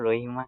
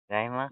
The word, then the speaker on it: Rahima: রহিমা না রাহিমা? রাহিমা ।